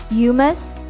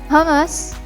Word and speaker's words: hummus: in the middle east some pronunciation sounds like yumas yumus hamas say it as hummus so the waiter will